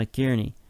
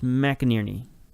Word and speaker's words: McInerney: still there Nagbe and McCarney Mac is it no it's McInerney yeah sure why not he scored a bunch of goals on us we should probably learn to pronounce his name but anyway oh that's